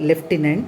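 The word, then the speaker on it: lieutenant: the office of the leftenant here the though the spelling is l a e u t e n a n t that has to be pronounced as leftenant okay and he had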